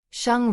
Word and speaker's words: Sheng: Sheng rhymes with hung.